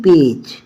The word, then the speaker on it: page: Next है PAGE पेज। अब यहाँ पर जी जो है किसकी प्रोनाउंसिएशन दे रहा है?